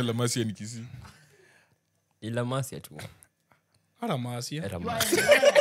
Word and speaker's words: La Masia: La Masia tu.